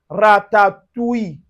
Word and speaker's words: ratatouille: Now, for instance, you can find it in word like o u i double l e and you see it in ratatouille.